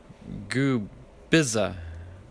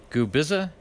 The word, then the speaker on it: Gubicza: with the Blue Jays goob bizza gube is a-- so you uh I guess that see in the middle is silent I guess alrighty good